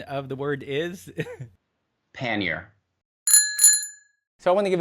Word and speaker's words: pannier: of it and lastly the way you pronounce a word is pannier